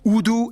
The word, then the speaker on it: Urdu: used as lingua francas, Urdu and English. Yeah, that's right, it's pronounced Urdu, not Urdu.